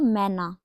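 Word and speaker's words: Mann: आता है S there मैना देयर मैन तो इसको हम कैसे कहते हैं मैन को मान दे मान बिकॉज़ ए कैसे प्रोनाउंस होता है आ की तरह देयर मान अब देयर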